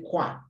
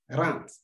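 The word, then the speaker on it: quarante: I told you in the alphabet that the Q and the U form K, sound K. So don't say qua, it's 40.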